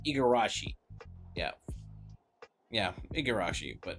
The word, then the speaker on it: Igarashi: Oh, that's how you pronounce Igarashi.